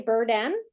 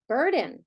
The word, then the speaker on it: burden: Now, do we say burden? No, what do we say? Burden. So I have to flex that as well to a schwa.